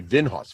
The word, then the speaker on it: Vinhos: will play the game vinhos they've been host like like host like it's one word okay without the T okay yep we'll play vinhaus v-i-n-h-o-s yes I may